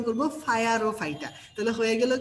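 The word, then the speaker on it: Pyrrophyta: দেখো, আমরা উচ্চারণ করবো ফায়ার ও ফাইটা।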